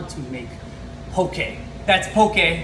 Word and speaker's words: Poké: That's pokey, not pokey. Pokey is zombies horsey friend. Pokey is the way we pronounce it in Hawaii.